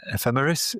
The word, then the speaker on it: ephemeris: And uh yeah, you your pronunciation is correct. Ephemeris is what these things are and ephemerities is what a lot of them are.